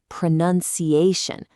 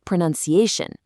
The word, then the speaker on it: pronunciation: at the noun form, pronunciation. The stress completely shifts, and that out sound becomes an un sound. It's pronounce, but pronunciation.